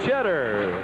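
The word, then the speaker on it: Tschetter: Mel Cheddar. He spells it T-S-C-H-E-T-T-E-R, but says it's pronounced like the cheese, cheddar.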